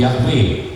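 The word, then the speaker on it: Yahweh: lafal yang benar Nah para ahli lebih memilih lafal itu yahwe dasarnya apa ada dasarnya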